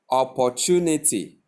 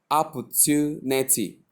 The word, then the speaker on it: opportunity: Opportunity. But the right pronunciation is opportunity. Tunity. Not ch, but t, with the y sound attached to it to produce to opportunity.